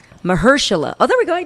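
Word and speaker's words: Mahershala: anyway um booger was notnot juice I can't pronounce his name right and I feel bad it's Mersa oh there we go I did it you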